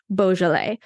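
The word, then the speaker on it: Beaujolais: that region I mentioned Bal which looks nothing like how I'm saying it right now it is b e a u j o l a i s so look for that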